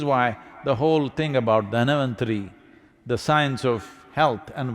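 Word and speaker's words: धन्वन्तरि: It is Dhanavantari's Trayodashi. North Indian people must connect, don't go on clipping away one syllable and come, Dhanavantari becomes Dhan, Trayodashi becomes Tera. Don't keep clipping it away.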